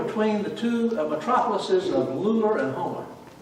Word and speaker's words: Lula: They were between the two metropolises of Lular and Homer. They call it Lular, but it's spelled L-U-L-A.